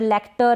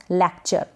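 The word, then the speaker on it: lecture: temperature इसको temperature पढ़ेंगे यह है लेक्चर क्या है लेक्चर लेक्टर ऐसे करके ना पढ़े लेक्चर अब नेक्स्ट जो है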